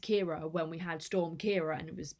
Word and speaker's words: Kiara: I was inspired to do this video because Kiara, over on, I think her channel name is Kiara Foster. Editing Charlotte here, just to say that I can't pronounce names and my mind has always pronounced